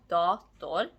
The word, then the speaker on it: dator: For instance, in the noun en dator, stress falls on dator.